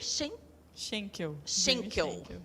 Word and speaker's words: Schenkel: Como que pronuncia? Schenkel.